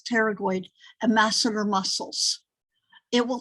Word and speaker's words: pterygoid: If you say, what cranial nerve controls temporalis, medial lateral pterygoid, and that P is silent, so it's pterygoid, and masseter muscles, it will tell you what cranial nerve is involved.